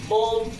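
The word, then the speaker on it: bomb: कहते हैं यदि किसी स्पेलिंग में एम के बाद बी आए तो प्रायः बी का उच्चारण नहीं होता है, बी साइलेंट हो जाता है। फॉर एग्जाम्पल बॉम, कॉम, थम।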